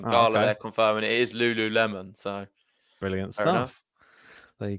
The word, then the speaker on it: lululemon: apparently you are right as well with the pronunciation garland confirming it is lululemon so brilliant stuff there you go no more